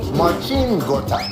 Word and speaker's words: Marcin Gortat: Do you know I've been saying this guy's name wrong for my entire life? I mean, I please know. do it for me. Marcin Gortat.